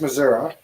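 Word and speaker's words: Missouri: right it's Illinois Illinois it's not misery it's Missoura Missoura and it's not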